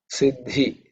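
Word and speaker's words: सिद्धि: So this is a compound consonant. Id and id. Id and id. So there's a third letter in the Thavarga, id, followed by the fourth letter in the Thavarga, dha. Okay. So Siddhi. So DH. Siddhi Rupaya Namaha.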